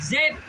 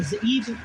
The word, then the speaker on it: Zeeb: Make their nobles like Oreb and like Zeb, or Zeeb, depending on how you pronounce it.